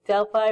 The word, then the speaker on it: Delphi: They're the ones who, in the Delphi or Delphi, depending on how you want to pronounce it, who are, inhaling the fumes.